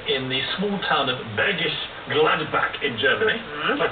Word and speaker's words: Bergisch Gladbach: Well, your heart began in the small town of Bergisch Gladbach in Germany. Did I pronounce that right?